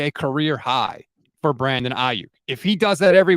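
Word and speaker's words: Aiyuk: It's not Ayuk, it's Ayuk. But Ayuk.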